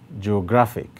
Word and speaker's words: geographic: the last one geographic geographic now this one has three syllables as well and the place with the greater emphasis is on gra that is why the stroke is placed on gra now each of the